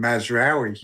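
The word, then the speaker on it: Mazraoui: So I am currently starting with Rya uh how do I pronounce the Man United defender's name Nick? I keep getting it wrong. Call him Mazawi. Mazari. Mazawi against Newcastle.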